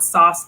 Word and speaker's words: SOS: It's spelled sauce gloss, SOS gloss, based on Song of Solomon.